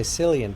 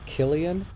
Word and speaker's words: Cillian: How about, I always want to say Cillian, but I think he pronounces it Killian.